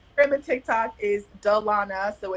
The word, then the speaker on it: Dalona: high school because um my name is often pronounced Delona and so I phonetically spell it out on